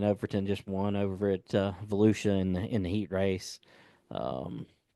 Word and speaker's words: Volusia: That's at New Smyrna and big sexy Brandon Overton just won over at Volusia in the heat race. Um, they got Is some that good how that's races going. pronounced? What's that? Volusia?